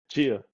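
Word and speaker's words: Tchia: us got it though Chia Chia the t is silent like Jango y kind of curious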